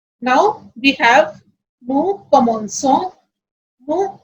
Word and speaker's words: commençons: But when we have O after C, the pronunciation will be co. So if we don't have E here, the pronunciation will be comonco ou efaco.